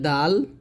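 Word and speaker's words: دال: হবে কিভাবে দেখুন এখানে দালের উচ্চারণটা হবে যেবার আগা সামনে উপরের দুই দাঁতের গোড়ার সঙ্গে লাগিয়ে দালটা উচ্চারণ করতে হবে পাতলা করে দাল এরকম আর এখানে সন্দেহ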